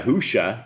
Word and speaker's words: Yahushua: Messiah Yahushua, it's like Joshua with a Y.